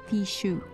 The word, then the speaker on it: fichu: Fichu is pronounced Fichu.